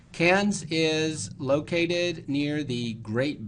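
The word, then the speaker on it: Cairns: head to the far Northeast of Australia to cans now it's spelled c AI NS but it's pronounced cans cans is located near the Great Barrier Reef there's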